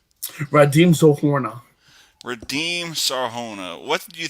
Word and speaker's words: Radim Zohorna: Radim Zohorna.